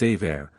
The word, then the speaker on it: Emer: Emer, wife of Cuchulain, appears often in the Sick-Bed. This name is by some pronounced Aver, probably from a different spelling.